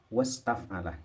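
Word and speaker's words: واستفعل: Ini kalau ada huruf lain sebelumnya hamzah, misalnya waw, hamzah ini tidak dibaca, jadi membacanya wastaf'ala, ini hilang, namanya hamzah wasol. Makanya ciri-cirinya yaitu menyebutkan mabni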